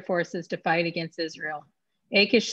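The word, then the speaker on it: Achish: say his name was i think we said it is however been pronounced akish said until david i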